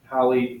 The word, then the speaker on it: Halley: Halley rhymes with Valley.